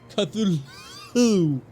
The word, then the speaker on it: Cthulhu: Call of Cthulu. Cthulu. Y'all know that's how it's pronounced.